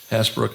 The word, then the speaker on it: Hasbrooke: Happy to have on with us Steve Hasbrooke. Am I pronouncing your last name correctly?